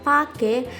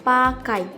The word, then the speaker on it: pakai: Bunyi diftong yang seharusnya digunakan pada kata pake menggunakan bunyi diftong AY menjadi pakai.